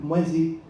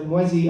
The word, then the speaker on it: mwezi: And but the problem is, like, mwezi, I mispronounced it the first time. I said mwezi, and he said, no, that means thief.